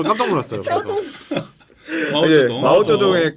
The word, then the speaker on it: 마오쩌둥: 저동 마오쩌동. 마오쩌둥.